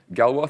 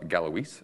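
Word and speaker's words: Galois: for hours about this Galway Theory not galloweeze as some people like to pronounce it talks about okay how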